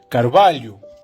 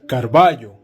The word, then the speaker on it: Carvalho: La doble L tiene dos formas de pronunciarse. La primera es como una L alargada o una LI, como por ejemplo en el municipio de Carvalho. Pero mucha gente también lo suele pronunciar como una doble L hispana, o sea, Carvalho.